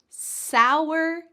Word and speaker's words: sour: The first one is sour. Sour. It almost sounds like there's a W in the middle of this word.